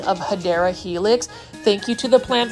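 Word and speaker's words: Hedera helix: or the correct way to say it is hadera Helix for those that are new to this channel I say hedra Helix um intentionally because that's how I used to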